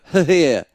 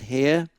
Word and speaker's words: Hehir: I must admit, his surname gives me problems because I want to go Hehir, because it's spelled Hehir, but I am reliably informed that his name it's pronounced Hare.